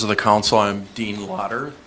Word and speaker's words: Lotter: Mayor, members of the council, I'm Dean Lotter. That's Lotter, spelled like lottery minus the Y.